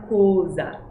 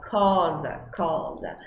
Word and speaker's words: cosa: E é cosa e não cosa. Cosa.